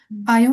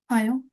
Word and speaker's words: ayant: Ayant une fille très protectrice qui n'avait jamais voulu